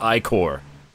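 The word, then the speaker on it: ichor: it with magical icar that that's pronounced i-core choose your ico wisely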